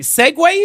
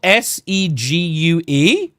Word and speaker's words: segue: Why is it not just spelled segue as in s g w a y?